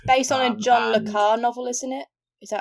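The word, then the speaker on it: Carré: It's based on a John Le Carre novel, isn't it? Is that I'm pronouncing his name correct? Carey.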